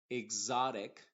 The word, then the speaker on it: exotic: es la x modificada normalmente lo vamos a encontrar en palabras que empiecen con exa y en algunos otros casos cuando una x está entre dos vocales va a funcionar como una x modificada por ejemplo vamos a